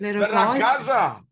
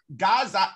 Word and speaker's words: ragazza: La ragazza. Let's have a look. La ragazza. La ragazza. Actually, it's not la gaza, it's gazza.